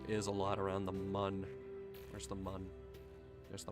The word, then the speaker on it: Mun: It's pronounced man. No, it's pronounced mun.